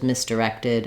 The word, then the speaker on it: misdirected: misdirected it was misdirected I'm still my main stress is still on the rected so it's just like in directed just adding one more syllable in front of my stress syllable same thing in direction